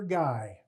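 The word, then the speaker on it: Gaey: mail for guy two guys would butt heads they'd walk up they butt heads because the other fellow's from Louisiana he had a Cajun name g AE y pronounced guy so the next day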